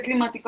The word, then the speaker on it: climático: Ese climático donde lleva tilde.